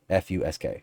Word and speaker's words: fusk: p-h-s-u-p-h-u-s-k-s-k you know whatever however you want to spell it um but here f-u-s-k is what we said fusk we always fussed